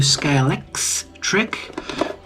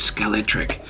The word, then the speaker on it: Scalextric: scale X trick um man that X I tell you I'm sick and tired of trying to pronounce that in the the new the new age way of pronouncing the word it was always scalet tric I got the Lamborghini